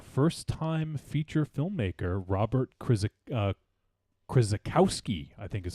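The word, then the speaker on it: Krzykowski: directed by a first-time feature filmmaker Robert critic Chris Bukowski I think is how you say that krz Chrissa Kowski was it is that correct yes okay thanks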